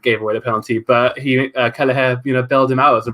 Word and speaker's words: Kelleher: Then that moves us on to our next player, Kameen Kelleher. I finally learned how to pronounce that name.